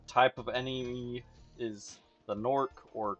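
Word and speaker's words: Gnorc: The most the main type of enemy is the Norc or Ganorc. It's spelled G N O R C. I think it's supposed to be a silent G, but a lot of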